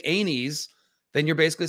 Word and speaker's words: Aenys: king aerys king anus i hate that it's anes not anus aenes rhaenys aegon this is